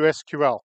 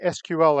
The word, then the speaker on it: SQL: At this point is when I tell people, notice I'm saying SQL and not saying SQL. SQL is an initialism, not an acronym. You pronounce an acronym, an initialism, you say the letters.